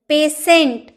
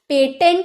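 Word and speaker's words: patient: नहीं पार्शियल पक्षपाती पेशेंट पेटेंट नहीं तो बोलेंगे पेशेंट रोगी अनुपात तो जब भी आपकी सेंटेंस में टी के बाद लिए आई आई ओ रहे तो आपको टी का उच्चारण 100 में करना है क्लियर अब है रूल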